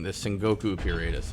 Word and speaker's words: Sengoku: Also, like, you're right, by the way, and I keep pronouncing the Sengoku period as Sengaku.